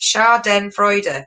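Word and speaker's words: Schadenfreude: right okay we've got one race put it's pronounced char den freude there we go melanie why didn't you do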